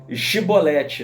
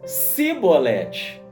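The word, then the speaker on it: שיבולת: é chicote e eles não conseguiam falar chibolete né que era uma palavra lá do idioma hebraico aramaico eles falavam cebolete e como a pronúncia era diferente Jefté sabia que era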